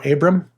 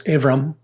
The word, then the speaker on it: Avram: It's Abraham or Abram, but in the Hebrew, the B is actually pronounced the V, depending if that's God Dagashinit or how it's pronounced. So it's Avram, means exalted father.